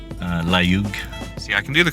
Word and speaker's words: Layug: Layug.